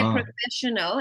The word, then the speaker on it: professional: When we say professional, it's a sh, right?